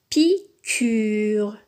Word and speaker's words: piqûre: Piqûre. Ici, le U se prononce. Donc, on dit piqûre.